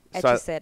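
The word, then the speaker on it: hetaera: I say that right too silent h etera etera i knew that I read that too and I still pronounced it it's cuz the H is there and I just uh the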